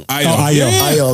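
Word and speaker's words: Ayo: Besides kids album AO IO.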